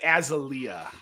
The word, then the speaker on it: azalea: us what's called an azalea connor azalea azalea i say things how i want i say things how i want to say you put the emphasis on the wrong syllable it's very important for augusta yeah